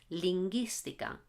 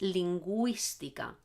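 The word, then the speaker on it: lingüística: spell it like this if I spelled like this this reads linguistic ax but it's linguistic ax so I need to put the two little dots okay so I hope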